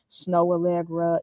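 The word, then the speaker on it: Snoh Aalegra: check that out and her name is spelled differently snow Allegra is s-n-o-h um snow and then Allegra a-a-l-e-g-r-a I believe um so yes definitely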